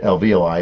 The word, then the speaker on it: alveoli: lungs inside the little the luvia or lvli alveoli if you say it right it rolls back